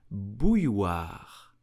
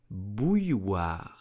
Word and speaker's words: bouilloire: French will pronounce it bouilloire, bouilloire. First step is to say bouille, then war, bouilloire, une bouilloire. Please do take the time to pronounce it at home.